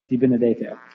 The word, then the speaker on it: DiBenedetto: I think our last in-person is Jennifer DiBenedetto. Well done. That's probably the best, off-the-cuff pronunciation I've heard of my last name.